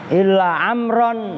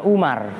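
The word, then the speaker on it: عمرًا: annasuh Manusia dipegang kitabnya amron Nah itu bacanya amron bukan Umar kecuali Amr nah itu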